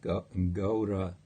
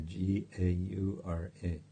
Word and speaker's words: Gaura: Yeah, Ghora is Ghora. It's not to be confused with Gaura, a name of Lord Chaitanya, Gaura.